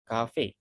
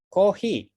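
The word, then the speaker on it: コーヒー: Nah, kalau kita mau ngomong coffee ke orang Jepang, bacanya bilangnya coffee, itu bagi orang Jepang itu nggak tahu. Coffee, apa itu coffee? Diubahlah sesuai dengan lidah Jepang menjadi kohi. Nah, kohi, kalau kita bilang kohi baru oh, kopi ya.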